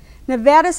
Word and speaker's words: Nevada: will face de portation the misuse of one little vowel frustrates a lot of nevadans who get irritated by the mispronunciation of the state's name using an ah instead of an a the outgoing assemblyman Harry